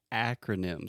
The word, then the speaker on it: acronyms: First, the pronunciation, we say acronyms. So the first sound is that really open ah sound that we have in English, just like apple, hat, cat, disaster, master.